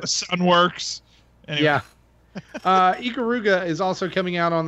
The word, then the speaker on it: Ikaruga: Yeah, Ikaruga is pronouncing it right.